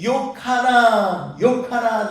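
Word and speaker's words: יוחנן: 그러면서 그 발음의 히브리식으로 얘기를 하면은 이게 요카난 이건데 이것이 벙어리인데 그걸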